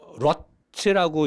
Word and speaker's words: ROT: 근데 한국 차, 일본 차, 미국 차가 쓰는 미션 오일, 노 사장이 파는 노보스 글라체 미션 오일 빨간 거, 러트라고 읽으면 돼요.